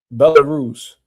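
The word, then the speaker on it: Belarus: How you pronounce it? Bellarus.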